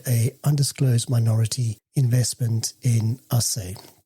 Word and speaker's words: Acai: undisclosed minority investment in assay. Ash, are you glad I went to the source to make sure we can pronounce it correct? Yeah, because I was going to butcher it and call it Akai.